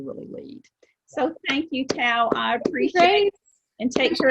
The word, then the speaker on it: Toa: those things but again i think your name is tao because it rhymes with wow that's what i think